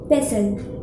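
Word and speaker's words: pestle: उसको कहते हैं पेसल पेसल तो टी य साइलेंट है तो इसलिए यह हो जाएगा पेसल मोटर एंड पेसल और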